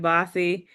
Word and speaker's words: Bose: Growing up in Oklahoma with a name like Bossy, and then I had, which is spelled Bose, people are you Bose, are you this?